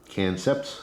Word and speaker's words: Kancept: logo here is for cancer knives and again that's spelled k-a-n-c-e-p-t canceps it's a play on concept all right see